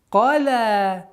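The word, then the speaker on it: قَلَى: Вама, кала, каф твердый, ля мягкий звук, но при остановке у нас аннулируется огласовка ляма, но удлинение остается.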